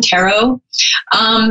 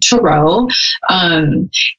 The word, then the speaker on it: tarot: is and a lot of people call them Tarot the correct pronunciation is true it's true someone even put a little bit